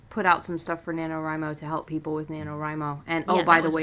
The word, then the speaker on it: NaNoWriMo: pronounce them yeah well because it's National Novel Writing Month yeah so it would be NaNoWriMo okay three-day novel there